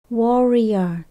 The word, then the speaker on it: warrior: nghĩa là chiến sĩ chúng ta nhấn âm đầu tiên mình đọc âm o War rer Warrior internet Warriors Why bother